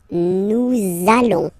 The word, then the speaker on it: nous allons: it does mean that you will have to pronounce this sound, okay, listen to me, nous allons, okay, nous allons, that's it.